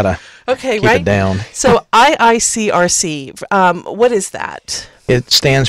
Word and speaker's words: IICRC: So a lot of these organizations, is it IICRC? Is that how you say it properly? Yeah, just it's easier that way. Okay, IICRC and the CRI, they have a green label program.